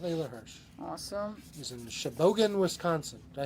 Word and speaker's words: Sheboygan: He's in Sheboygan, Wisconsin. Did I say that Nice. right? Sheboygan? Sheboygan? Sheboygan? Yeah. Sheboygan. That's how you say it.